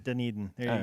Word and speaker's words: Dunedin: It's not Dunedin. It's not Dundon. It's Dunedin. Dunedin. Dunedin. Dunedin.